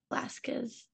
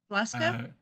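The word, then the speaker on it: Valeska: Velasquez. Velasca? Velasca. Velasca. How do you spell that, Kim?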